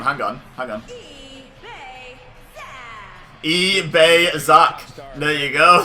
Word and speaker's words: EBEZA: EBEZA. There you go. That's how you say EBEZA. It was the closest I could get.